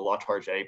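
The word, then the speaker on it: Latarjet: And they did I'm probably going to butcher the way you say this, my Southern accent, but I believe it's pronounced the Latarge procedure.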